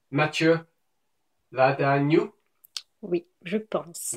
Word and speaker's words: Matthieu Ladagnous: No, I think it's something like Matthieu Ladagnous. Oui, je pense. Matthieu Ladagnous.